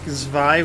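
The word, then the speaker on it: Zwei: A lot of people really like Zvi, which is part two. It's spelled Z-W-E-I.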